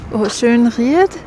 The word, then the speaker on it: Schönried: I realized I was going to miss out or shun I think with the e actually pronounced.